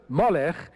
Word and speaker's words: Moloch: Mala Mala Mala now the word Moloch is an application to the Hebrew word melech of the vowels that come from a word which they didn't want to pronounce which is which means